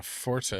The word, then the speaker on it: forte: Chris someone having a forte is pronounced Fort the accentuated E is only for the musical definition interesting five four three